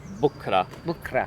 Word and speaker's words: بكرة: Bukra.